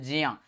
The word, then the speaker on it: ज्ञ: यानी कि विकल्प नंबर ए से होगा जिया, जिसका उच्चारण होता है जिया, जिया उच्चारण होता है इसका, याद ना।